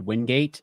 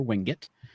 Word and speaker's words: Wingate: like you will hear it pronounced the way it's spelled Wingate um on campus you'll hear Windgate but you will primarily hear wingit um that just uh that's just kind of